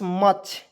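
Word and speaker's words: much: इसलिए उसके बाद देखिए एम यू सी एच मच मुच नहीं बहुत लोग मछ पढ़ लेता है बिल्कुल गलत है उस तरह उच्चारण नहीं करना है मच पढ़ना है एम यू सी एच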